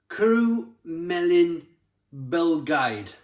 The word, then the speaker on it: Cwrw'r Bae: It's Cwrw'r Bae, a Belgian blonde ale, pronounced Cwrw'r Bae.